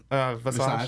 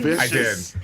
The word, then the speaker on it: Visage: We interviewed her and he said her name wrong to her face. Vicious. I did. Did I say vicious? On purpose? Yes, you did. You said Michelle Vicious.